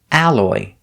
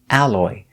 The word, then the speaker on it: alloy: a ballerina another example alloy the stress on the first syllable al al alloy alloy is a type